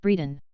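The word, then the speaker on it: Bredon: you I will come one pronounced Breeden 22.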